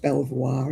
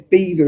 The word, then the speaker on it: Belvoir: It's not pronounced Belvoir, is it? I like their um elderflower cordial. It's pronounced nothing like it's spelled.